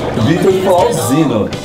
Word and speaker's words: Vittor Flausino: nos querido amigo Vittor Flausino né que se pronuncia seu nome Vitor Flausino que é um maquiador artístico muito [ __